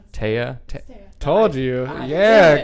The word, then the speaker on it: Taeya: we have Steve and your name is pronounced ty oh right taya told you yeah called